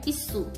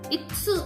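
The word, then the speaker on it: いす: Hai, kursi itu bahasa Jepangnya isu. Isu. Isu. Ya, bukan itsu, bukan, beda lagi ya. Jadi hati-hati pelafalannya ya.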